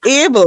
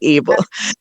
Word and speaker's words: Abel: Abel, right. God is able, right? So, like Abel.